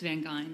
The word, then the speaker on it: Van Geyn: It's Van Geyn. Like Van Geyn.